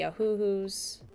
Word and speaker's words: Ohuhu: my alcohol-based markers like the Copics and the Ohuhus.